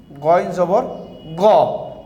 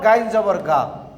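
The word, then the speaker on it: غَ: Ain zabar a, and this is goin zabar go, not gain zabar ga.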